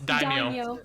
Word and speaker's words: daimyo: How do I pronounce what Mior is now? Like Daimyo? It's Daimyo. Daimyo.